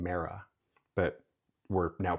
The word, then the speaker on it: Mera: So in in English, we know her as Mera, but in espanol she's Meta.